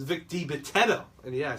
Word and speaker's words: Vic Dibitetto: It's Vic Dibitetto.